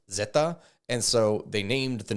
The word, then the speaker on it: Zeta: the ferales in Spanish the letter Z is pronounced Zeta and so they named